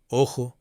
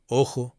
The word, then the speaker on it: ojo: Spanish, সেই স্প্যানিশের উচ্চারণে, অর্থাৎ যেটা স্পেনের স্প্যানিশ, সেটা উচ্চারণে কিন্তু খয়ের মতো উচ্চারণ হয়, খ। এবার আমি অডিও গুলো প্লে করব শব্দের সঙ্গে, আপনারা শুনেই বুঝতে পারবেন। Jamón, jardín, joven, ojo, trabajo.